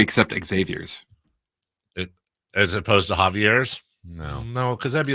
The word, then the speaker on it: Javier: As opposed to Javier's? No, because that'd be like we were doing Mount John more. But it's pronounced Javier in Spanish.